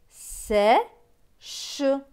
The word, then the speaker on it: sèche: CH, CH, c'est ch. Avec le E, cela donne ch. Donc ce mot va se lire sèche, sèche.